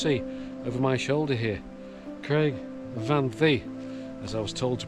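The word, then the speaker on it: Craig y Fan Ddu: you can just see over my shoulder here Craig Van Thee, as I was told to pronounce it, just towering over the forest there,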